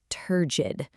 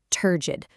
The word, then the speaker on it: turgid: And that word is turgid. Let's lock in on that pronunciation right now. Turgid, 2 syllables, emphasis on the first.